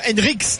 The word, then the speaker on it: Henrichs: Une première côté Monégasque, la première titularisation de Benjamin Henrichs, le Henrichs très exactement, c'est comme ça apparemment qu'on prononce, le jeune espoir allemand, et la première de Kevin Strootman côté marseillais au milieu de terrain.